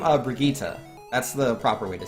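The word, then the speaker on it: Brigitte: men it triggers me so hard but I pronounce the name of Brigitta that's the proper way to say it that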